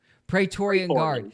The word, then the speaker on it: Praetorian Guard: Praetorian Guard.